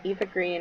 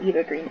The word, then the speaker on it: Eva Green: Or not Eva Green, Eva Green. She pronounced it Ava.